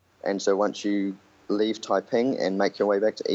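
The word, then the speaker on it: Taiping: worth having a stop in the town of typing which is spelled t a i p i n G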